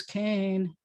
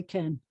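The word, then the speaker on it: כן: you is can but i was taught that it was cain but it's can so ken or kane when you ask him if you ask someone who's a modern hebrew speaker how do you say yes they'll say ken like the name of the doll um i thought that it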